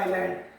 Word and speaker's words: island: This is आप जब इसको पढ़ोगे, जब इसकी स्पेलिंग हम देखेंगे, इट is written as ISLAND, पढ़ा जाता है आइलैंड।